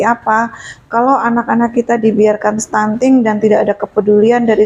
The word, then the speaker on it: stunting: Selama ini mungkin cuman dengar-dengar sekilas, ada yang salah ngomong, ada yang bilang stunting, ada yang bilang sunting gitu. Tulisannya stunting, bacanya stunting.